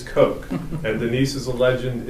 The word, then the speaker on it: Koch: So you see on the far left, not Denise Koch, Denise Koch.